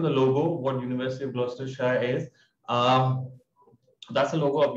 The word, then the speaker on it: Gloucestershire: So the correct pronunciation is Gloucestershire.